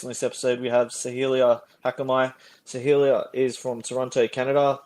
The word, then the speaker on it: Soheila Hakimi: I think it's hilarious when I see people try to pronounce my name. I know it's a really, really tough one. It's actually Soheila Hakimi.